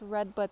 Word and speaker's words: redbud: got to plant this redbud tree over here. I had to say the D because if you don't say it properly, it can sound like derriere, if you know what I mean.